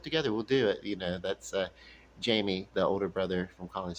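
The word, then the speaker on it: Jaime: His name is Jamie. Of course, in Spanish it's pronounced Hammy.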